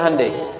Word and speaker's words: Hyundai: Sehingga ketika di sana bikin Honda, sini Hande Hyundai kan dibacanya Hande ya kan?